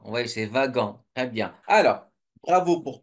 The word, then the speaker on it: wagon: c'est on prononce pas Wagan à votre avis comment on prononce ce motl là le W ça se prononce V donc c'est vagan oui c'est vagan très bien alors bravo